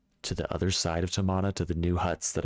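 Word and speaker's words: Tomahna: I did not explore all of Tamana.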